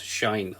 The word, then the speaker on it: sinh: You can either pronounce it as sinh of x, some people pronounce it as sine of x.